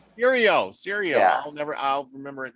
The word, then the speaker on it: Serio: Sergio or or how? Serio.